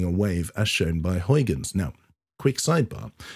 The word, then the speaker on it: Huygens: I am a Dutch speaker, so I know full well that the correct pronunciation is Huygens. But because the main language for my video is English, I follow the pronunciation that an English speaker would follow.